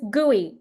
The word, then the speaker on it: GUI: shiny GUI oh yeah it's guey gooey is the way that's pronounced go ahead oh gooey